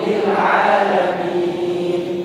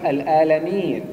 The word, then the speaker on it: العالمين: لله الحمد لله رب العالمين الحمد لله رب العالمين العالمين العالمين لا تقل الآلمين، ليس الآلمين، وإنما العا العالمين العالمين العالمين.